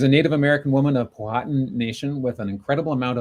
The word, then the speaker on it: Powhatan: And some people say Powhatan, but as I understand it, the emphasis for native language is Powhatan. Powhatan.